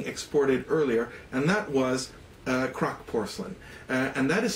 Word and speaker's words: Kraak: really started being exported earlier and that was crock porcelain and that is spelled K or a a.k.a scholars believe the